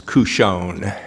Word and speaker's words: Cuscione: Thank you, Judge Wallace, and it's CUSCIONE.